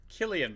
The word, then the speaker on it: Cillian: realise that I think I've been pronouncing a name wrong for a long time. Is it Cillian Murphy or Killian Murphy? Killian Murphy, and I believe that I did correct you on this.